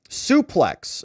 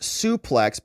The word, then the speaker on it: suplex: of course over at suplex okay here is what here is what Paul me no says uh yeah so here you go suplex is pronounced suplex by almost all wrestling professionals and fans a few pronounce it